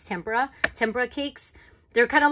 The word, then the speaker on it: tempera: i love working with tempur tempura i always say it wrong i think it's tempera tempura cakes they're kind